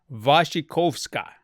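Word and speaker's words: Wasikowska: able to say her name was kawasca wassi waskawaska Mio waskawaska does that sound right that's what it looks like I'm gonna see if there's a like a proper enunciate oh vashikovska okay I've said it way wrong okay we're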